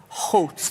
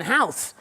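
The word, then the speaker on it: Howth: Hout. Yeah. Yeah, I was calling people in America going, I'm in my house in house. But that's not how you say it.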